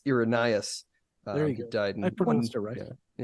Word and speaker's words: Irenaeus: I think it's Irenaeus. There you he go. died in I pronounced it right.